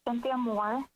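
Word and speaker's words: Cinthia Moore: you may begin hi everyone my name is cynthia moore c-i-n-t-h-i-a-m-o-o-r-e i'm a member of the nevada environmental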